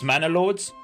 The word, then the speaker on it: Manor Lords: This is Manalords. No, very good pronunciation.